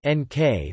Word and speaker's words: Νίκη: Project Nike, Greek, victory, pronounced NK, was a U.S.